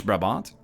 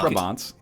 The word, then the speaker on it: Brabant: Flemish Brabant. Brabant. Brabant, you can be like, Brabant province? So that has the same syllables as butter waffles?